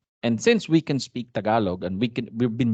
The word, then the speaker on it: Tagalog: it's the same thing Tagalog but if you say that in American accent talog right all right let's